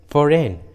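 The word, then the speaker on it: foreign: आया है, इसलिए जी साइलेंट है, जी का उच्चारण नहीं किया गया। उसी तरह फॉरेन, डिज़ाइन, देखिए दोनों इंग्लिश वर्ड्स में जी एन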